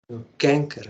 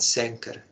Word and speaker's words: canker: heart of the nation how it is pronounced canker not cenker canker so here it is